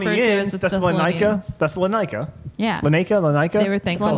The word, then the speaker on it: Thessalonica: Tessel what? Thessalonica. Lanika. Lanica. Not Lene. The people who were referred to as the Thessalonica. Thessalonians. Thesalonica.